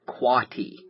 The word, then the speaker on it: quotty: QUOTTY, pronounced quatty.